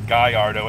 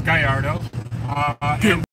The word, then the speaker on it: Gallardo: love cats Jew tub says tomorrow it's called Gallardo nut Guyardo it's not Spanish you're right but it's Italian